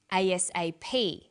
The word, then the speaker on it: ASAP: is pronounced separately but the last letter is pronounced more strongly because it carries the primary stress so we say us a ASAP ABC and TV listen